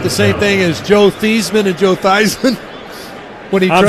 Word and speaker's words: Theismann: same thing as Joe Theismann and Joe Theismann? I'm saying it's not that. Exactly, yes. That's exactly. When you change your name to rhyme with Heisman your senior year at